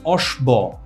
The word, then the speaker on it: অশ্ব: বফলা আমরা তো এটাকে অশ্বব এটা তো আমরা বলি না কিন্তু আশ্রয়ী যে বর্ণটা আশ্রয়ী বর্ণ কি তার সাথে কে আশ্রয় নিয়েছে তালব্য স এটা দীপ্ত হবে এটা দুইবার উচ্চারণ হবে অশ্ব আশ্বিন আশবিন এটা